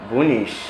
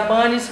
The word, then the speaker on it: Bunys: A pronúncia mesmo correta seria Bunis, mas eu falo Bunis porque a iniciativa foi de criar mesmo um nome Bunis, como se fosse nacional, entendeu?